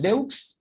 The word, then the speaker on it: deux: This one, Then this one, de, it is written deux, but we pronounce it de. We don't say deux, we say de.